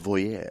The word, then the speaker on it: voyeur: Let me pronounce it like the French voyeur.